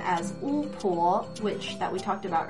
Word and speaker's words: 巫婆: Then pe plus o is a little tricky. It makes the sound po, not po, but po, as in 巫婆, which, 巫婆. I don't know why, it's just one of those pronunciation things you need to learn.